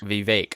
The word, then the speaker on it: Vivek: Am I saying Vivek like Vivek? Cake. Vivek. Okay, excuse me.